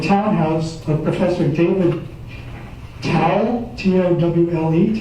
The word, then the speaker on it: Towle: This was supposedly the townhouse of Professor David Towle, T-O-W-L-E, Towle, I guess you pronounce that.